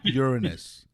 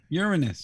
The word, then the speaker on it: Uranus: it took a picture of Uranus it's pronounced Uranus Uranus Uranus yes yeah urin this with me let